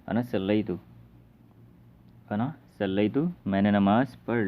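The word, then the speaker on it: أنا صلّيت: लेकिन स्पोकन में जो मैंने बताया था कि लास्ट हरफ की हरकत को छोड़ देते हैं, वहाँ पे उसको साइलेंट रखते हैं तो बोलेंगे अना सल्लैत, अना सल्लैत, मैंने नमाज़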